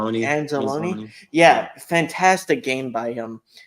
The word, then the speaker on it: Anzalone: Anzalone.